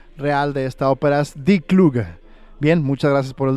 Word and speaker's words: Die Kluge: Felicita el programa y aclara que la pronunciación real de esta ópera es Die Kluge.